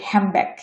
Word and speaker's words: হ্যান্ডব্যাগ: পরেরটা নিচ্ছি হ্যান্ডব্যাগ, এটা হচ্ছে হবে হ্যামব্যাগ, হ্যামব্যাগ, হ্যামব্যাগ।